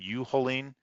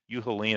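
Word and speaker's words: Uehling: Is it Uhaline? Uhaline, I believe is how you say that.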